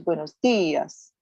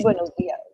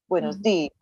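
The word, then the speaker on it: buenos días: So because there's an accent over the I, the pronunciation is buenos dias. Not buenos dias, not buenos dias.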